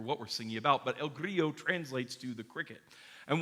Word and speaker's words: El Grillo: The next piece sung by our Voces Sacris group is called El Grillo, which is the Spanish pronunciation because even though it's written in Italian, the composer, Josquin des